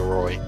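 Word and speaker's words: Rouxls: do i pronounce it i'm saying roy like rolls roy yeah roy card my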